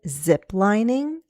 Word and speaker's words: ziplining: Have you ever been ziplining? And we have zip lining, 3 syllables. I'm going to go down on the stressed syllable zip, and then I have 2 more syllables to step up.